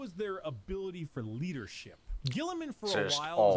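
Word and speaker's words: Guilliman: Gilliman?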